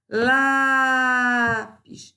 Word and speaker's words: lápis: Lápis. Sílaba tônica penúltima, paroxítona.